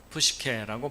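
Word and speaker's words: ψυχή: 한글 성경에는 혼동이 돼 있어서 많은 사람들이 영혼에 대해서 잘못 어 잘못된 상식을 갖고 있게 되고 어 헬라어로는 영을 어 뉴마 어라고 발음을 하고 혼는 푸시케라고 발음을 합니다.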